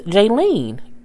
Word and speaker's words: Jaylene: And her daughter's name is Jaylene. Kind of like Jay Lee.